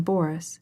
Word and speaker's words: Boris: She pronounced the name Boris with the accent on the first syllable.